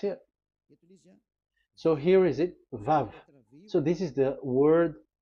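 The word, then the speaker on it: ו: So it's V as in Vogue. So it's really V. How to read Vogue? So the word, the shape Vav is really pronounced V, like Vogue. That is it, pronunciation. So here in this side, it's pronunciation. This is pronunciation. So according to the old Hebrew word today, those who, the owner of the words, I mean, so it's a V. So don't change it into W.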